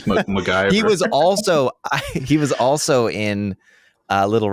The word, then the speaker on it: McIver: So this character Derek is played by Blake McIver Ewing. I might be mispronouncing any of those names besides Blake, but it's MacGyver.